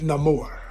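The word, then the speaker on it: Namor: who Neymar is or as they pronounced it being Spanish about it no more no more could have been played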